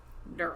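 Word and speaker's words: Dearl: His name is spelled D E A R L like Pearl with a D. Daryl.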